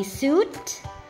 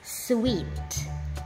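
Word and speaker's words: suite: coco How about this did you say suit No it's sweet sweet try this did you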